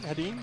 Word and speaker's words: Hedin: I said it right, Hedin? Hedin, yep. Okay, good. I want to make sure I get the right E, because it could be Hedin or Hedin. Or Hedin or whatever. Hedin.